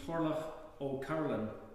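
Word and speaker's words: Turlough O'Carolan: composed by a guy called, I'm gonna not pronounce his name right, but my attempt would be Torlach O'Carolan.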